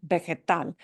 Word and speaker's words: vegetal: Vegetal, the V should sound like a B, but soft pedal, kind of, yeah. Vegetal. Oh, and it ends in an L. Vowel, enter S, second to last syllable. Oh, no vowel, enter S at the end of vegetal. So vegetal is just, we punch the end, vegetal.